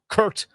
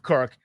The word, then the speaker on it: Kirk: The way that Bruce Allen was royally mispronouncing the name of his quarterback, Kurt Cousins, instead of Kirk, they're not mis mispronouncing his name.